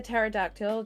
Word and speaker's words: pterodactyl: raptor t-rex um also maybe a pterodactyl just because of silent p oh that'd be very